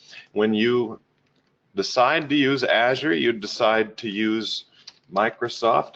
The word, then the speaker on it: Azure: might wonder how do we pronounce it it's pronounced Azure and it gets its name from the beautiful